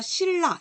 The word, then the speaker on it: 신라: 이런 경우 리을, 리을로 바뀌어서 신라 이렇게 읽어요. 여러분 잘 생각해 보세요. 신라 읽을 때 여러분 신라 이렇게 읽는 사람이 있어요? 없어요. 다 사실은 신라라고 읽고 있거든요.